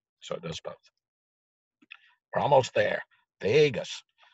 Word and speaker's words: vagus: does both almost there Vegas don't spell it like Las Vegas right V AG us is the way you spell so it's a big